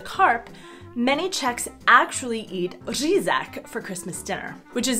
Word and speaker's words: řízek: many Czechs actually eat řízek for Christmas dinner, which is essentially schnitzel, but impossible for foreigners to pronounce, which makes it an especially Czech dish. Say it with me. Řízek. Řízek.